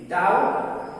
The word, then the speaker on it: doubt: उसी तरह DOUBT डाउट, यहां पर टी के पहले बी है तो बी साइलेंट है।